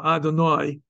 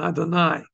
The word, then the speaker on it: Adonai: I grew up with the ah sound originally, so Adonai is how I will often pronounce it. In the Sephardic pronunciation, it should be more of an I at the end, Adonai.